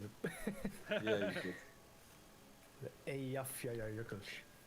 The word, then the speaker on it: Eyjafjallajökull: The Eyjafjallajökull. Eyjafjallajökull. Because the end is like Jökull.